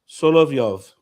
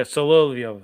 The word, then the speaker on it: Solovyov: How do you pronounce that last name, Ed? Solovyov. Okay, there you go, Solovyov.